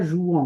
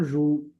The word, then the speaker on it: jouent: prend on dit pas jouant on dit joue les enfants jouent on dit pas les enfants jouant on ne prononce pas le e t on dit les enfants